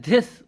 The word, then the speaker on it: this: That इज़ नॉट दिस। That इज़ दिस दिस। तो जो सही प्रोनाउंसिएशन है वो अपनी टंग को अपने दांतों के बीच में लाके दिस इज दिस इज my room दिस इज my book